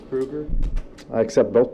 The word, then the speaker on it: Krueger: is this I'm pronouncing your name correctly it's Krueger I accept both pronunciations well which one do you use Krueger okay thanks that's what I I really do